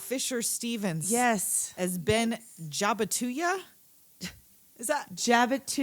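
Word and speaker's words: Jabituya: that's not how he pronounces it. J-A-B-I-T-U-Y-A. So he pronounces it different, but that's how it's spelled. Jabatuya.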